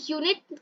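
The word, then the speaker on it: unit: तो देखिए यू, अभी देखिए हम अगर इसको प्रोनाउंस करें तो ये यूनिट कह के य से हमारा शुरू हो रहा है, और य वाई, वाई हमारा कॉन्सोनेंट में आता है।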